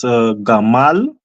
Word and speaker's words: Gamal: I will pronounce it as Gamal, and I have 3 letters, and they are Ga, Ma, and La.